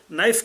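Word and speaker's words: knife: مجھے بتائے نائف کے اندر شروع میں کے ہے یا نہیں؟ وہ فضول ہے یا ہے فضول کہ کیا کارآمد ہے؟ لکھنا پڑے گا نا، لیکن تلفظ میں تو نہیں آئے گا.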